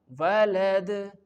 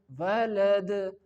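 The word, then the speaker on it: وَلَد: In the last, walad, walad, the tongue is relaxed for the final sound, like walad. If I can say it like walad, walad, if I can rest the recitation and I can say it walad, which is totally wrong.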